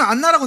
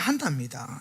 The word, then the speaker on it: 한나: 우리 성경은 안나라고 되어 있지만 원래는 한나입니다. 히브리 발음으로는 한나인데요.